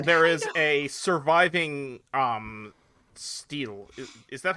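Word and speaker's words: stele: There is a surviving um steel. Is that how you pronounce that word? Stle.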